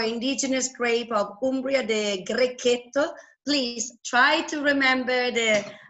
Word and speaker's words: Grechetto: grape of Umbria, the Grechetto. Please try to remember the right pronunciation. I'm trying. In Italian, we say when there is a CH, Grechetto, not Grechetto, even if all over the world people say Grechetto.